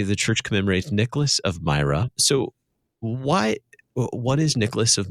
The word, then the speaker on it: Myra: Is that how you pronounce it? Yes. Today, the church commemorates Nicholas of Myra.